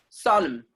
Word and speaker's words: solemn: MN are coming together, N will be silent.